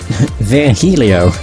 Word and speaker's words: Virgilio: bartender you look winded Virgilio it's pronounced it via Helio of the hurry oh